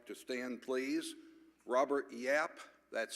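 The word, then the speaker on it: Yaap: Robert Yap, that's spelled Y-A-A-P, Yap, who is from Mission Viejo, California, but his roots are here in Tulsa.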